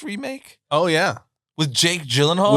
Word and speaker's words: Gyllenhaal: oh yeah with Jake Gyllenhaal with Jake gyllen or Ulen haal how he actually pronounces it yeah yukin lock yeah